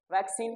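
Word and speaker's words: vaccine: लिख के देख लेते जैसे हमने लिखा double C आई एन ए इसको क्या पढ़ेंगे वैक्सीन क्यों देखिए यहां सी के बाद क्या है सी है तो इसको क्या पढ़ेंगे का यहां पर सी के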